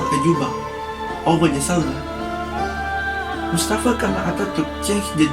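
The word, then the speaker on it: şalvar: For Istanbul city also, they have a specific traditional clothes, pronounced shalvar in Turkish, which is Turkish trousers or dimeje, are traditional baggy trousers gathered in tightly at the ankle.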